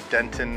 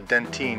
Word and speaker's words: dentine: that's below that is called the dentin or the dentine depending on who's pronouncing it I'm gonna call it